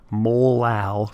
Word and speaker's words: molal: this out out loud we pronounce the m not as 1.58 Little M but as 1.58 molal solution kind of a weird